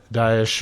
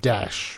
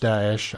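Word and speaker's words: Daesh: it is actually pronounced dases I've even seen it um transliterated as dases so a bit more emphasis there on the a but Dash I think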